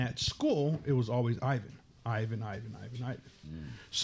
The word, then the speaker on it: Ivan: And that is because you are Mexican. So in Mexico, normal or Spain or whatever in Spanish, the correct name is Ivan.